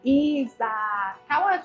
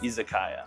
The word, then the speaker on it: izakaya: And it is an izakaya. Tell me how it's pronounced. Izakaya.